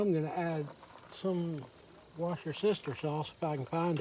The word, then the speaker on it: Worcestershire: Now I'm going to add some washer sister sauce if I can find it. Here it is. And just so everybody knows, this is not Worcestershire or whatever. It's washer sister sauce.